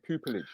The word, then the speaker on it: pupillage: Did I pronounce that correctly? Pupillage?